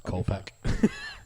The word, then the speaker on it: Koepke: It's Koepke.